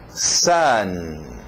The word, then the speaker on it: sun: Próximo vai usar esse som do A, só que escrito com a letra O. Sun. Sun. Sun. Sim, muitos perguntam, é a mesma pronúncia do sol? Sim, mas o sol escrito com U, sun. Mas é a mesma pronúncia, esse som de A, sun.